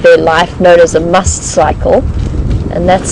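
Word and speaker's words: musth: life known as a must cycle and that's spelled m u s t h and pronounced must and con in the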